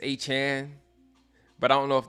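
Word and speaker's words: Achane: I used to call him A-Chain. It's Achan.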